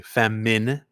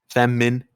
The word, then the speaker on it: feminine: into feminine to no feminine is pronounced with an i fem Min like in minimum feminine yeah feminine English weird